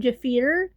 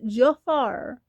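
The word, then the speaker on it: Jaafar: I've heard people call him Jafir. His name is pronounced Jafar, like Disney's Aladdin.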